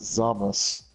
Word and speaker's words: Zamasu: No, it's all spelled like that, but his name is pronounced Zamas. Zamas.